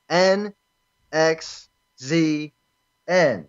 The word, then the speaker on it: NXZN: miss it it is an X Z and that's how you spell it that's how it's pronounced like it doesn't get any simpler than that online over the past